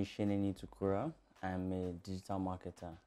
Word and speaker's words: Sheneni: How are you, Sheneni? I'm fine. Yeah, I hope I got that pronunciation right.